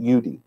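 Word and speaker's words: Jude: And if you notice, it's spelled Judi on the yellow stars. And they pronounced it Judy. Some pronounced it Yudi. I don't know if that was regional or what it was, but I've heard it both ways in those old films.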